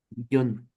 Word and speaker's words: billón: se le llama billón billón con acento en la o billón eso es un billón